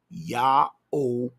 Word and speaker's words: Yahweh: His name is pronounced Yahweh, which means Yahweh, the creator, the Father who is in heaven, is salvation.